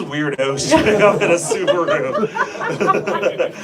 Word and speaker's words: Subaru: Who are these weirdos showing up in a Subaru?" Or Subaru? Subaru. Yeah, that's how they say it in Germany.